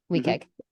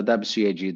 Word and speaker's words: WCAG: plugin for w yes weag thank you yeah the W CAG the web content accessibility guidelines so we we in this field we have the bad habit of just pronouncing the acronyms which is not a